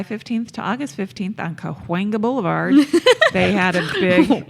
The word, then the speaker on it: Cahuenga: for a month, July 15th to August 15th on Cahuenga Boulevard, they had a big. You never say Coenga Boulevard. Cahuenga. Well, then spell it right, Los Angelinos.